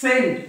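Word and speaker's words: scent: role नाही एस अ आणि एस सी म्हणजेच सेंट एसेंट सीन बघा सीन एस इ एन सीन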